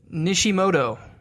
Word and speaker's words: Nishimoto: Shout out to Joseph Nishimoto.